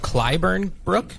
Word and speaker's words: Clyburn Brook: Okay, so maybe we talk a little bit now about, it's called Clyburn Brook. Is that how you pronounce it?